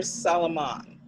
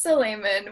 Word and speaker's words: Solaiman: Is it Solaiman or Solomon? It's Solaiman, but it's hard to pronounce, no worries.